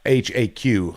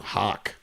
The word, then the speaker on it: Haq: Yeah, h aq hawk. Like a Yeah, he's actually from Ohio. He doesn't live his his family don't live too far from me. Now, is that how he pronounces his name, Chip? I think you know him better than me. Does he pronounce it that way? Hawk. He actually calls himself HAQ.